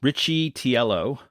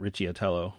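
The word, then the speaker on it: Riccitiello: John Richie atello um Richie tiello not Richie atello wow my pronunciation is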